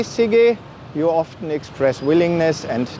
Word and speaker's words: sige: than the first syllable the G is pronounced like the G and go followed by a short